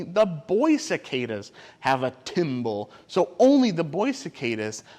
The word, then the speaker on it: timbal: their body called a timble can you say that word timble can we say oh it kind of sounds like the word timber that a lumberjack says when they chopped on